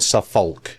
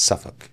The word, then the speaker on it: Suffolk: It's not Suffolk, as all the Americans say. It's Suffolk. No, it's Suffolk.